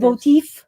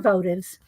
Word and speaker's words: votive: Is that how you say it? Votive. yeah. Little votives. Votif. No, they're votives.